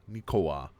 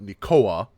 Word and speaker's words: nikowa: It's supposed to be pronounced nik-ko-wa. Nikowa. So not Nikoa, but Nikowa. You have to like separate them.